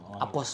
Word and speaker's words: Apos: Apos, Pak. Apos. Apos saja, Pak. Apos. Tulisannya Apose ya? Apos. Iya, AFOCHE dibacanya Apos, Pak.